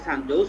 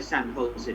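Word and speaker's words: San Jose: ওইখানকার উচ্চারণগুলো ওই যে এমনি তো আমরা দেখতেছি সানজোস, অনেকে মানে ইংলিশ স্পিকিং অনেকে যারা ইয়ে বলে সানজোসও বলে ফেলে, বাট অ্যাকচুয়ালি এটা সান হোসে, ঠিক আছে। এটা হচ্ছে স্প্যানিশ উচ্চারণ আর কি।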